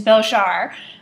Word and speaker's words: Belzhar: I believe the correct pronunciation is Belzhar, given the way they say it in the book, but Belzhar by Meg Wolitzer is an interesting piece.